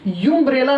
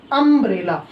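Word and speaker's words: umbrella: यदि हम देखें तो ये हमारा यूनियन पॉइंट बन रहा है, इसे हम यूम्ब्रेला नहीं बोल सकते, इसे हम लोग क्या बोलते हैं, अम्ब्रेला।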